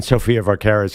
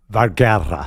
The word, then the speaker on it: Sofia Vergara: quick, my parents think Phil Dunphy hits on Sofia Vergara's character too much.